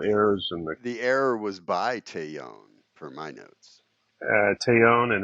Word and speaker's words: Taillon: I say Taillon. Taillon.